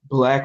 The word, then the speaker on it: 6LACK: I feel like 871, because I think if Black was rapping, if y'all don't know Black, he spelled his name basically like Six Lack, and it's 6LACK, but it's pronounced Black.